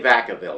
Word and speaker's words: Vacaville: The locals say Vacaville.